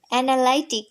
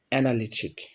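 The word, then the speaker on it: analytic: অ্যানালাইটিক। ওকে, অ্যানালাইটিক। ঠিক আছে, অ্যানালাইটিক। আমরা জানি এটা আমরা উচ্চারণ করি অ্যানালাইটিক। তো আজকে আমি এটা সঠিক উচ্চারণ করবো, ঠিক আছে? তো এটা সঠিক উচ্চারণ হবে অ্যানালিটিক।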